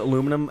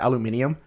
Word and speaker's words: aluminium: or you know why Americans pronounce it aluminum and uh the British pronounce it aluminium it has to do